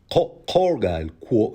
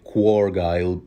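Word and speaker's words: Quorgyle: House corgile of sandstone is that how it's pronounced is starts with a Q corgile some people would undoubtedly say quile even though there's no u h don't know the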